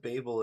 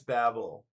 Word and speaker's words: Babel: I think that's Babel, right? I would normally, if I was kind of reading more phonetically, I would think Babel.